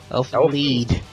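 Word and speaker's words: Elfen Lied: Elfin Lead. The shit straight. Okay, Elfin. Wait, is that here? It's spelled lied. It's pronounced lead.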